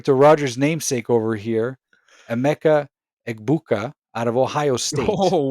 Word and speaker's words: Emeka Egbuka: We're referring to Rodgers' namesake over here, Emeka Egbuka out of Ohio State.